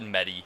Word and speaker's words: Medi: He said Medi, so I'm just gonna respect his wishes, and I'm gonna call him by his name. The name that he says that's how you pronounce it.